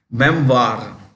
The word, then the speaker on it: memoir: this o i r is pronounced okay Memoir like Reservoir member is a collection